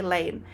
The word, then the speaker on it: Lane: insight whatever of why my last name is Lane cuz I've had so many people ask me like, "Why is your last name Lane?